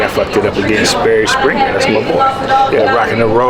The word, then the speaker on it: Sperry Springer: I usually be saying Jerry Springer and Sperry Minger, but shout out to see, I fucked it up again. Sperry Springer, that's my boy.